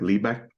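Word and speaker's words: Lý Bạch: poet named Lipe and we in Vietnamese we pronounce it differently like lead back but uh is he's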